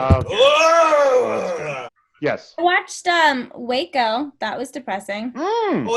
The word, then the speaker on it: Waco: I watched Waco. That was depressing. Oh, it's pronounced Wacko.